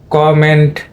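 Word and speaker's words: comment: এখানে খেয়াল করবে তোমরা এখানে কিন্তু কম এন্ড এটা কিন্তু এ সাউন্ড ঠিকই আছে যেহেতু এটা স্টেজ প্রথম সিলেবলে দিয়েছে যার কারণে কম এটা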